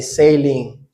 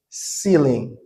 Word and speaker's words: ceiling: I mispronounce this word. I say sailing. Okay. But the right way to say it is ceiling.